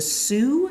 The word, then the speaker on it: Sioux: One example of a Great Plains tribe is the Sioux, you spell that s i o u x, the Sioux.